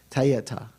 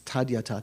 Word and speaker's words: tadyata: There's a convention, if it were a Tibetan word, it'd be pronounced te, or te, tayata. But in Sanskrit, it's tadyata.